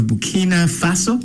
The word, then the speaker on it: Burkina Faso: Troy uh the youngest leader of Bkina Faso, that's how it's pronounced.